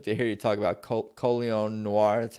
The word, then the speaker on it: Colion Noir: that's that's interesting to hear you talk about coleon Noir that's how you say his name yeah right